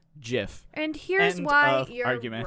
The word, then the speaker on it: GIF: can and do determine definitively that it is pronounced jiff and here's why your argument is wrong your